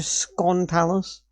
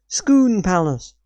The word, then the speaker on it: Scone Palace: no not scone palace Skoon Palace. Skoon, not scone palace. Skoon Palace. So you put it's pronounced Skoon Palace. It may be spelled scone, but you don't pronounce it as scone.